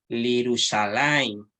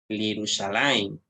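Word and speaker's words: לִירוּשָׁלַיִם: Al agregarle la preposición le, ¿cierto? ¿Ya? Se va a pronunciar Lirushalayim, a Jerusalén, para Jerusalén o de Jerusalén.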